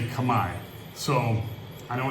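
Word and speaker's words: Khmer: And I'm picking up more kab, you know, kami stuff. It's spelled Camar K Her, but it's pronounced Kami. So if anybody's out there saying, you know, hey, Camir, Camar Rouge, or whatever, it's Kami Rouge.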